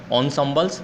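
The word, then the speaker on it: ensembles: असेंबल का हम pronounce करते हैं ऑनसम्बल्स, बर्ड मीनिंग में लिखा हुआ है।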